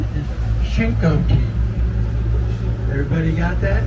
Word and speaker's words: Chincoteague: by the way you're the way I'm saying shake it take that's not it okay correct pronunciation is shinkoki everybody got that shingo tea that is an Indian word from the Accomack